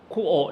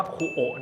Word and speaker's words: Kuoe: นิด นึง ครับ ว่า คูอ เนี่ย อ่าน ว่า คูอ นะ ครับ ตัว E ตัว สุด ท้าย ไม่ ออก เสียง นะ อัน นี้ เจ้า ของ แบรนด์ บอก เอง เลย ว่า อ่าน ว่า คูอ แบรนด์ นี้ เกิด ขึ้น